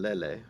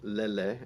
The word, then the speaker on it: lele: It's spelled UKU, and lele, Lele, where the vowel is the same, lele, and in uku, those are the same vowel too, ukulele.